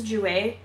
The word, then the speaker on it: Jouer: This is a Jouer one?